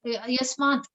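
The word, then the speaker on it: यस्मात्: Yasmat, for example, there is a ta at the end of the word. Yasmat.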